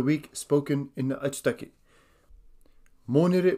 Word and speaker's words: Monire: Monday is Monire. Monire. This is spelt M-O-N-I-R-E.